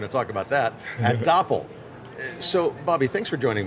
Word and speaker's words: Doppel: Which is funny because some people will mispronounce it without catching the whole Doppel like dopel or something or That's it.